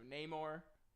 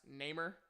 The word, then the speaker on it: Namor: are thinking is going to the introduction of Namor, name that I always pronounce Namer when I was little, and I had like